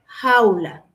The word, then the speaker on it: jaula: Eh, como en el caso de a au, porque no es a u, es au jaula.